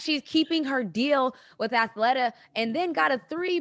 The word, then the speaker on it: Athleta: keeping her deal with athlete how do you say that athleta athlete no no snoop athleta i love this [